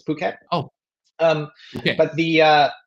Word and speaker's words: Phuket: A lot of people from Europe pronounce it incorrectly, but the ph is it's not Phuket, it's Phuket.